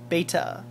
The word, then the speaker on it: beta: the Greek symbol B beta if you're European you probably call it beta that's how they pronounce it beta well but I'm not a European says beta C beta and a